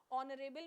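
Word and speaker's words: honourable: ऑनरेबल में भी ओ की ध्वनि आ रही है तो क्या लगेगा, एन लगेगा।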